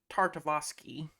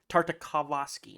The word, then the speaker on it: Tartakovsky: cap that i so gendi tartovosky tartakovsky i'm sorry i mispronounced the hell out of it he